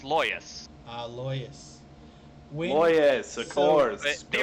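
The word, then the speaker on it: Laois: original word is or it can also be pronounced leash lawyers the original irish is hoyish it's the uh transfer the uh translation to english is leash so oh god so you know that thing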